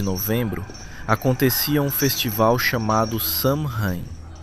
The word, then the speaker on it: Samhain: Na noite entre 31 de outubro e 1eo de novembro acontecia um festival chamado Samin, pronunciado algo próximo de Sou.